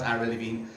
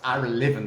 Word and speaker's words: Ira Levin: Now you can say to me, Matthew, it's Ira Levin. No, it's not Ira Levin. It's pronounced Ira Levin. There's no E at the end of his name.